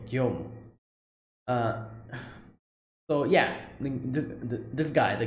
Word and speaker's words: Guillaume: Let me hear the pronunciation. Guillaume, okay, Guillaume.